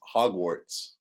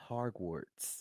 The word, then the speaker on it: Hogwarts: It's Hogwarts. Hogwarts. Okay. Just hog. Hogwarts. Hogwarts. No. No. You're You're glitching out. Hog. Warts. Warts. Hogwarts. Hogwarts. Oh my gosh. Stop putting that R in the first syllable. Hogwarts.